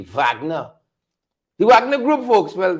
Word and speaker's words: Wagner: They said German Wagner, pronounced to the V, Wagner.